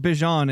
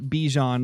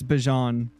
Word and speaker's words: Bijan: And yes, believe it or not, his name is pronounced Bijan. It's not Bijan like we thought. I believe he said it himself in an interview that it's Bijan.